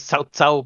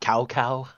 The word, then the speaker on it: Cao Cao: Just like his name is Cao Cao, but we got Cow Cow.